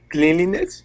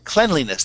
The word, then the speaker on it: cleanliness: Cleanliness? Cleanliness, that's how we pronounce cleanliness.